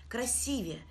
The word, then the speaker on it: красивее: интересует прилагательное красивой и его сравнительная степень красивее именно так произносится это слово чтобы запомнить обратимся к